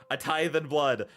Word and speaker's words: A Tithe in Blood: A tithe and blood. That's how you pronounce the name.